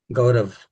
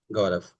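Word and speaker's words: Gaurav: So, my name is Gorav and I'm from India, Bangalore. Nice. Nice to meet you. Uh, what's your name again? Gorav. G A R A V. Gorav.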